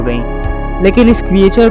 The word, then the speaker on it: Loch: ये लॉच नेस मॉन्स्टर नहीं बल्कि लॉक नेस मॉन्स्टर है।